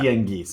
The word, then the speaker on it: Tianguis: I'm sorry, I did have 4 years of Spanish, but I'm not sure how to pronounce that. Tianguis.